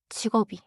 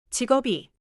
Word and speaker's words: 직업이: 직업이. 직업이. 완벽해요. 직업이. 철자는 직업이 그대로예요. Quick check. Which pronunciation is most natural for?